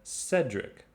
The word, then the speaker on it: Cedric: group b we have cedric which is pronounced with a soft c in other words it's pronounced like an s so cedric cyril cecil